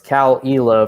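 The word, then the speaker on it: Caol Ila: afternoon sipping some uh cowalila uh c-a-o-l-i-l-a for those of you not viewing the show this is an eyeless scotch it's confusing because isla i-s-l-a-y and e-la ila so it's cal ela from iowa those of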